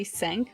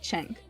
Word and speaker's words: Cenk: Now, as mentioned in this article, Cenk Uygur, I can't ever pronounce his name right because it's spelled as CNK, so I want to say Senk, but I know it's like Cenk.